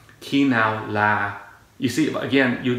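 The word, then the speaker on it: khi nào: the word i mean you have to lower the sound for that particular word otherwise the the meaning is lost all right key now la you see again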